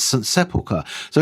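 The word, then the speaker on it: St Sepulchre: And then you'll have to correct me if I pronounce this wrongly. St. Sepulchre's.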